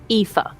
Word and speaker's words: Aoife: Now I'm looking at the spelling and I want to make sure I pronounce this right. Aoife. Aoife.